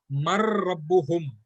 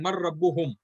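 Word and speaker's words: من ربهم: when we are reciting, this noon of the man will get joined with the ra, that is an idgham. So we will actually pronounce it as Mar Rabbuhum, Mar Rabbuhu, and Mar Rabbuhum.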